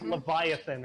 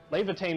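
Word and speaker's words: Lævatein: I always want to say like Leviathan or something. Yeah, it's actually Levitain.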